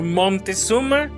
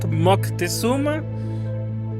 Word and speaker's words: Moctezuma: In English, you guys call the Aztec Emperor Montezuma. In Spanish, we call it Moctezuma. But apparently, the original pronunciation in Nahuatl, which is the original Aztec language, is more like Motecuzoma, something like that.